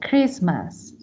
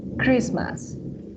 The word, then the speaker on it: Christmas: in this kind of words and for example Christmas this te is silent te Christmas listen listen carefully a accepts whistle fasten rle